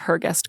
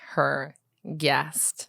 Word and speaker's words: Hergest: Then there's Sir Thomas Vaughan and the Dog of Hergest Court. This is another contender for potential Hugo Baskerville. Hergest? Hergest. Can you spell that? Hergest. Oh. It's not like her guest. No, it's like Hergest.